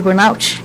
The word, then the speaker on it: burnout: É assim mesmo, síndrome de burnout? Isso, desse jeitinho, a pronúncia está maravilhosamente bem.